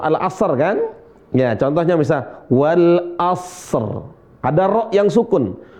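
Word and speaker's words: والعصر: Ya, contohnya misal wal asr. Ada ro yang sukun. Wal asr.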